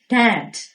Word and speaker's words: debt: my mom's recipe အမေရဲ့ဟင်းချက်နည်းတိုင်းကျွန်တော်ပါစတာကိုချက်လိုက်တယ်နောက်ထပ်စကားလုံးလေးကတော့အကျွေးဆိုတဲ့စကားလုံးဖြစ်ပါတယ် DEBT ဒီနေရာမှာ B က silent ဖြစ်ပါတယ်အဲ့တော့အတန်ထွက်တဲ့အခါမှာ B တန်ကိုထည့်ထွက်စရာမလိုပါဘူး Dad He paid off all